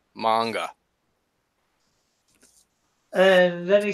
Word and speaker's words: manga: And then he says, well, the A is the important part. A is always like father, manga.